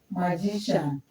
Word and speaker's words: magician: We stress the syllable before them. We have here magician mag. So here we have before is gi that is what is in capital letter.